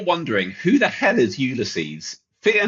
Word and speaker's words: Ulysses: Now, if you're wondering who the hell is Ulyses, fear not. He is simply Adysius, but with his name latinized and reduced by one syllable.